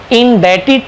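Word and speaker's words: indebted: इसको in depth, इसमें B silent रहेगा दोस्तों, बी नहीं बोलना है, आपको बोलना है आई एम इंडेटेड टू यू।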